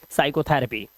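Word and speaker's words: psychotherapy: तो पी को हम उच्चारित नहीं करेंगे और इसे पढ़ेंगे साइकोथरेपी।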